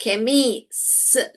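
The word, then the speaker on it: chemist: फिर मैंने बोला फिर मैंने बोला ए फिर मैंने बोला फिर ट बोला तो क्या बोला ये ख ए खम ए केमिस्ट केमिस्ट केमिस्ट देखिए हो गया खुद ब खुद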